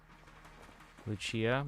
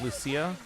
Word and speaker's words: Lucia: it uh it's pronounced Lucia. Kind of like how in Fire Emblem there's a character named Lucia as well that also says Lucia. Luchia is the Italian way of pronouncing it.